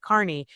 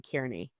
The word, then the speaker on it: Kearney: Kearney, do you pronounce it Kearney or Carney? And Aiden piped up and he said, Judge, you pronounce it Carney. 2 seconds later, Cosgrove called him Kearney.